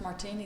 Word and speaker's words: Martine: Now, pronounce martini like the drink.